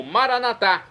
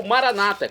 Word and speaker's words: Maranatá: E agora eu clamo Maranatá, como dizemos nós católicos, ou Maranata, como dizem nossos irmãos das comunidades protestantes evangélicas.